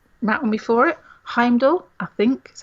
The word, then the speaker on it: Heimdall: Heimdall, I think is how you pronounce it.